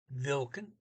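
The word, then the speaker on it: hvilken: word for word here vilken starts with an h but that's silent okay milken is witch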